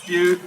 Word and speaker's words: spy: Spy in Swedish is pronounced spew, literally means to throw up.